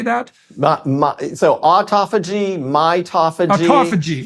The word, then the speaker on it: autophagy: that again how do you say that so autophagy mitophagy autophagy it's and mitophagy yes okay so